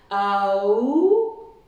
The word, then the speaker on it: Om: Le Om peut être divisé en 3 syllabes. Aum, Aum, et le M final.